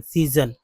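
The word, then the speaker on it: season: स बोल रहे हैं जैसे सीजन यही वर्ड है ना एस ई ए एस ओ एन सीजन तो एस पहला एस स दूसरा एस ज उच्चारण हुआ यहां स ज दोनों है टी को ट त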